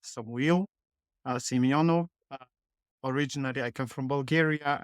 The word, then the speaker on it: Samuil Simeonov: and Cy's future actually my name is pronounced Samu Simo originally I come from